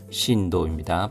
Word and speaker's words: 震度: 지진의 크기를 나타내는 진도 신도입니다. 발음에 주의 주십시오. 고효 5강입니다.